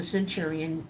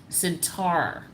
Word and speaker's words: centaur: centurion centurion figures um centaurian excuse me i'm saying it wrong not centurions that's a totally different situation centaur okay t-a-u-r a centaur um their half they start